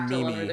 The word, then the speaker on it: meme: Yeah, I'm like, no, it's meme. They're like, no, it's Mimi.